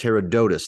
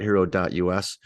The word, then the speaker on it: Herodotus: on a second Herodotus I'm being told it's Herodotus not hero.us that's not good uh